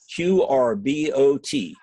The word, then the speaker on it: QRbot: Store in that search field type the word QR b o t pronounced qrbot type that word in and then tap